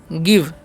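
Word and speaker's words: give: पर ध्यान से देखिएगा जी आईवी तो उ हम क्या पढ़ेंगे गिव क्या पढ़ेंगे गिव गिव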